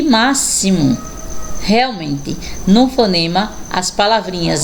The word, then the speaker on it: máximo: exame exército e exemplo vamos ver x com som de ss olha só que diferença agora não é palavrinhas com dois ésses vamos lá próximo auxílio e máximo realmente não fonema as